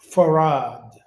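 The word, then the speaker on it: Fard: stands for what is we're taught to pronounce farad right so WF Muhammad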